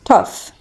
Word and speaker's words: tough: So እዚች ጋር ያለችው GH መጨረሻ ላይ እንደላይኞቹ ሳይለንት አትሆንም ፍ በሚለው ድምጿን ያለችው ማለት ነው. That's why we pronounce it as tough.